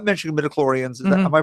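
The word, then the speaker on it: midi-chlorians: Because we're not mentioning midichlorians. Am I pronouncing that correctly?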